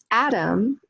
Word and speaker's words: atom: So you can see how atom, the stress is on the first syllable, right? Atom. But when we add the syllable ick to the end, it becomes atomic.